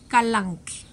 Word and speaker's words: Kalanchoe: les llama así kalanchoe pero éste tengo entendido que la pronunciación es porque como es del latín la que no se pronuncia entonces es galán entonces no voy a